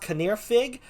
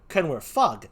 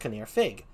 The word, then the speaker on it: Canwr Ffug: the first time the name up there is pronounced caneer fig so that's why we call him fig right it looks like it can wear fug but he's it's pronounced kaneer fig so we call him it is or welsh